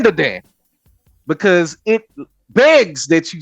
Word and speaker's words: Dan Da Dan: premiere of D Dan you got to say it like that not Dan Dan D Dan because it begs that